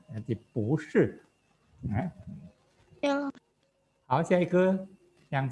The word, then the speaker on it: 不是: Udah tahu ya perubahan kata-kata bu ini, bu sebenarnya nada keempat kan karena dia ikutin oleh shi, iseng dia kita bacanya bukan bu shi tapi bu shi. Ya punya perubahan jadi nada kedua. Jadi bu shi.